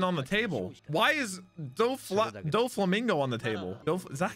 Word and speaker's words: Doflamingo: Doflamingo.